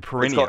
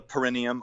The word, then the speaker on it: perineum: Yeah, the perineum. It's called the perineum, or sometimes pronounced perineum.